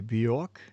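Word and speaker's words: Björk: How do you pronounce BJ O R K? Bork.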